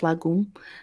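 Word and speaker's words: Lagum: there's not dancing it's Lagoon so it's l-a-g-u-m but pronounced Lagoon and um I actually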